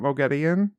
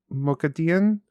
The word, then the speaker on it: Moghedien: It's like with an, you know how it's spelled Moghadien. It's like it's Dean, kind of how she says it.